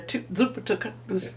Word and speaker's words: Zuppa Toscana: Zuppa Toscana. How you pronounce it, Gary? Zuppa Toscana.